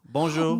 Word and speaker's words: Bonjour: But it's like beau. Bonjour.